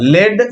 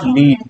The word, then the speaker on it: lead: Form हुआ था, हाँ, लेड iodide. It इज नॉट लीड, इट इज लेड, ठीक है, समझ गए। स्पेलिंग दोनों का सेम होता है, LEAD जो है इसी को हम लोग लीड भी पढ़ते हैं, और LEAD जो है